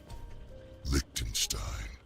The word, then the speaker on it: Liechtenstein: Liechtenstein.